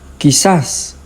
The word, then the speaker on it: quizás: And we also have the Q U I combination as in quizás.